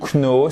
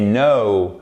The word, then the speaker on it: know: C'est pas to know, c'est pas to know, c'est know. C'est exactement comme hello. Ok, guys, c'est exactement comme je me souviens plus. Exactement comme to go.